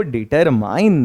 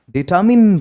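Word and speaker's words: determined: और सही भी बताऊंगा इसको डिटरमाइंड नहीं बल्कि डिटरमिन पढ़ते हैं क्या पढ़ते हैं डिटरमिन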